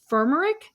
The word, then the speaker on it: firmenich: during covid and went to DSM is it fermer is that how you pronounce yes yes different F okay headquartered in